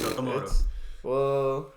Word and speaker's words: Okamoto: Okamoto? Yeah. Yep. It's Okamoto.